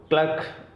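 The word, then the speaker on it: clerk: वैसे इसका जो प्रोनाउंसिएशन है वो है क्लार्क, ठीक है।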